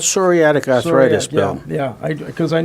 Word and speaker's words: psoriatic: Yeah, it's Starts with a P, like pneumonia.